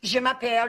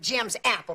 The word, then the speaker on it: Je m'appelle: In foreign language 1, how Miss Teeter used to try and get him to say his name in French. Je m'appelle Jimmy Faye Whiteley, but he would always pronounce it Jim's Apple, Billy Faye Whiteley.